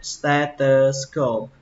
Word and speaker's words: stethoscope: Âm đầu tiên là âm sờ, ste, âm tiếp theo là âm tờ các bạn nhé, không phải là giờ, nó là âm tờ. Stether, các bạn nhớ âm tờ, nó ghi là thờ nhưng mà nó đọc là tờ.